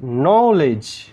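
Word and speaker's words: knowledge: কারণ ন কে সাইলেন্ট। কে যখন সাইলেন্ট তাহলে কে আর এন মিলে একটা কনসোনেন্ট সাউন্ড হচ্ছে ন কে এন এর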